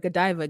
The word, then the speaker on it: Godiva: be go if anything she's like no it's Joe Diva and then she went and asked there's a couple of other in Costco we were like how do you say this and everyone's like Godiva Godiva and she was like I was calling it Joe diva and he says you